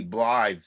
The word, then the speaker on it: Blythe: it the same way same the same way it's spelled the famed hollywood actress blog danner b-l-y-t-h-e blithe well guess what hey that's a doll that